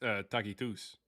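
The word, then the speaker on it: Tacitus: Uh, well, that's how it's pronounced in Latin. Actually, in in Latin is takitus.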